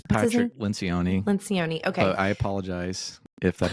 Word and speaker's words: Lencioni: Lencioni, okay.